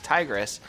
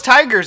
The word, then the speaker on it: Tigres: Yeah, shit, that's Tigres. I thought it was Tigers at first, but it's actually Tigres.